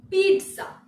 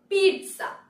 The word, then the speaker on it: pizza: Correct pronunciation হবে pizza, pizza. এখানে টি এর উপর একটা এমফাসাইজ করা হবে, পিৎজা, পিৎজা।